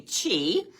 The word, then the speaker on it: Qi: that we drink into Chi and that is spelled Qi don't ask me why you call it Chi but that's what